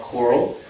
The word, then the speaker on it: COERLL: Carl life I'm the director of choral that's how we pronounce it it stands for the